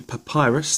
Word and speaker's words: PaPiRus: got something new in post this is the papyrus that's how you say it from PI supplier